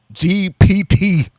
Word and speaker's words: GPT: I'm pretty sure if I just went into Chat GTP, right? GPT, say it right.